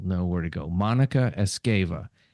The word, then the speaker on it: Esgueva: and I'm going to say your name and spell it again so the people uh will know where to go Monica escava m o n i CA e SG v